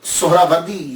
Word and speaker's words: سہراوردی: بڑی توجہ دینی ہے۔ ہم لوگ اکثر بول دیتے ہیں سہروردی، سہروردی، یہ اکثر ہم بولتے رہتے ہیں۔ میں غلط نہیں کہتا، لیکن ذہن میں یہ تو ہونا چاہیے نا کہ اصل پروننسیشن، اصل تلفظ کیا ہے۔ اصل میں یہ سہراوردی یا تو نسبتی ہے، تو لفظ جو ہے وہ سہراورد ہے، سہراورد، سین کے اوپر پیش، پہلی ہا، یہ ہا ساکن، را کے اوپر بھی